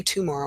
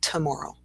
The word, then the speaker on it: tomorrow: But we don't say tomorrow, we say tomorrow in a sentence. See you tomorrow. We get that little there in the beginning.